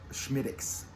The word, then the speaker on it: Smithwick's: the Schmidt --ax yes it looks like Smithwick's but it's from Ireland so in Ireland under the Gaelic pronunciation it's Schmidt --ax get that right anyone